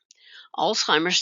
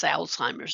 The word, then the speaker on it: Alzheimer's: Alzheimer's disease, you may also hear it referred to as Alzheimer's disease, but note it does not have a T in it, so you don't want to pronounce it with a T.